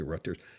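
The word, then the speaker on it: Reuters: So remember uh some people pronounce it Ruters, some people say Rutters uh who rutters uh who requested anonymously um what does it say?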